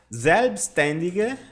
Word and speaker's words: Selbstständige: Selbstständige, de forma autônoma ou / por conta própria, tá? Selbstständige. Lembrando que esta palavra esquisitinha aqui, tá? Vou colocar a pronúncia aqui embaixo. Pronuncia assim, ó. Selbstständige.